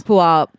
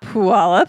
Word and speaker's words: Puyallup: It's Burien. It's Des Moines. Puyallup. It's not Puyallup.